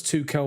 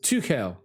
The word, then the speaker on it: Tuchel: Dream says it will be a Thomas Tuchel masterclass.